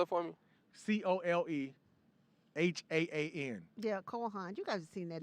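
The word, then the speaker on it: Cole Haan: Spell it for me. COLEHAAN. Yeah, Kohan.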